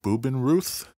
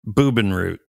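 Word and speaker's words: Bubenreuth: go to nearby called boob in Ruth I get the feeling you are pronouncing German like I pronounce Spanish that could very well be boob in root is that what you just said uh-huh okay this town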